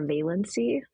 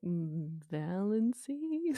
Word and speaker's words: Valancy: I just rhymed it with Nancy, Valancy.